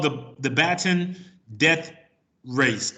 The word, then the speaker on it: Bataan: It's Bataan.